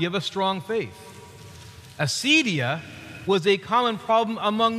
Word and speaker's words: acedia: The ancient word was that they called this condition was, we pronounce it modern days, acedia.